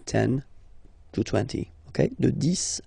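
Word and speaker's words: dix: De 10 à 20, okay, so let's start now. 10, okay, so remember, final X here is pronounced like S, 10, 10, okay?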